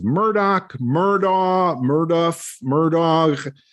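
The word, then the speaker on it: Murdaugh: they said it and the last name is murdoch that's how it's pronounced mean anything but what's funny about that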